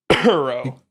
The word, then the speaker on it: Uro: Uro. It rhymes with burrow.